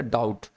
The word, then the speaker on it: doubt: अब एक चीज बताऊं मैं आपको कि किसी भी वर्ड के लास्ट में अगर BT होगा तो B हमेशा वहां पे साइलेंट ही होता है, DEBT डेट होता है। जैसे एक वर्ड पढ़ते हो आप DOUBT, तो क्या बोलते हैं उसके, डाउट।